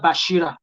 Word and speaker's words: Basira: Temilola Basira, I want to pronounce this properly as a Yoruba person. Temilola Bashira.